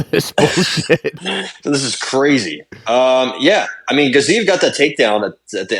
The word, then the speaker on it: Gaziev: Eventually, Gaziev is how it's pronounced, not Gaziev.